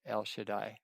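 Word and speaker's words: El Shaddai: And in Hebrew that is pronounced El Shadai, which is beautiful.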